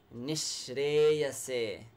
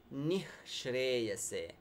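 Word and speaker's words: निःश्रेयसे: Some people say nishreyase, that h is there. But to tell you, the more learned Sanskrit scholars would say nishreyase, that h will actually convert into sh. So you pronounce it as if you have double sh.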